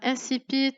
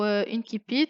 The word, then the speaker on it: incipit: Alors, incipit ou incipit, quand vous voulez, la prononciation la plus courante, c'est plutôt celle de l'incipit.